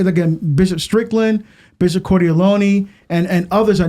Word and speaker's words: Cordileone: And, of course, Cordileone, that's how you say his last name, isn't it?